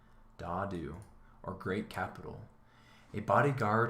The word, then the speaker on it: Dadu: Here's our pronunciation, Dadu, or Great Capital.